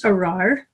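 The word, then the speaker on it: ארר: There's a doubled resh, arar, which makes it really hard to pronounce in Hebrew when you consider how far down in their throats they say the R.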